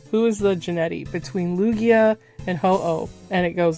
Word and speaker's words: Lugia: I don't even know how to say it. I don't know how to say it. It's like Luigi. Luigi. Okay. It's Lugia.